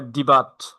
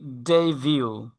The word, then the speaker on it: debut: উচ্চারণ ডিইবিইউটি, দেখে মনে করে যেহেতু বিইউটি আছে, এটা মনে হয় যে বাট যেভাবে উচ্চারণ করেন, অনেকে বলে ডিবাট অথবা ডেইভার্ট। ডেইবাট এরকম বলে। বাট এটার সঠিক উচ্চারণ হচ্ছে ডেইভিউ।